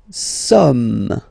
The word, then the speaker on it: sommes: Nous sommes. Okay, nous sommes. Okay, so you don't pronounce the final S here, it doesn't exist. Sommes. Nous sommes.